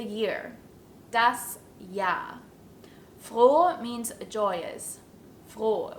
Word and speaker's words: froh: that's yeah means joyous Flo with a long stretched o sound and noise means new